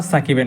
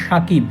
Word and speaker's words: সাকিব: এস এ কে আইবি অর্থাৎ আল হাসানের নামের ইংলিশ স্পেলিং অনুযায়ী উচ্চারণ করলে নামটি সাকিব হবে না হবে শাকিব কিন্তু তানজিম সাকিবের বাংলা ইংরেজি দুই উচ্চারণেই হবে সাকিব তাই খুব খেয়াল করলে